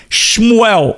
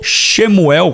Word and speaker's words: Shmuel: Outro nome, Shmuel ou Samuel ou Shemuel, como alguns pronunciam, né?